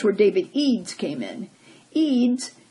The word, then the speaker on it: Eads: Eads, it's spelled E-A-D-S, news applications developer for NPR Visuals, worked on a team of designers and developers to meet the project's technical needs.